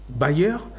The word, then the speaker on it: bailleur: Ça sonne bailleur mais ça s'écrit de manière différente. Le premier bailleur B A I 2 L E U R bailleur tout simplement.